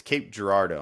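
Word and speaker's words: Cape Girardeau: So, uh, if you can, Rusty, tell us a little bit about your your market out there and it's Cape Gerardo. I'm pronouncing that correct?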